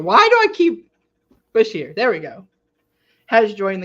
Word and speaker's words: Bichir: Damian Bichir, from the Nun.